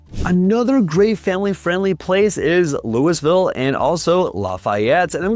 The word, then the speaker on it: Louisville: It is Lewisville as opposed to its counterpart Louisville and Kentucky.